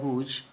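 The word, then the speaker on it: whose: मैं अभी बोल गया, लेकिन हुज में वो W है, वो साइलेंट है, बोलता नहीं है, वो H से स्टार्ट है, हुज, W उसमें साइलेंट हो जाता है।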